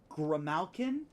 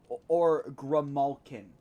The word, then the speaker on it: Grimalkin: By the way, this thing's race, it can be pronounced either Grimalkin or Grimalkin. I have not heard it pronounced in actual vocals, so either one works.